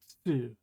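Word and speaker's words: つ: So in the ta-gyo, you have su, and then in the ta-gyo, you have tsu. So you need to kind of push your tongue against your teeth when you say it.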